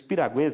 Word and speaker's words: piragua: sou muito bem e os piraguas na verdade que a a piragua é a a pronúncia correta eles são essa expressão